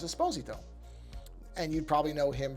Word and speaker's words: Esposito: Now, often mispronounced as Esposito, but it is not actually supposed to be pronounced that way. He's very specific about that, and he's correct. The Italian pronunciation of the last name is Esposito.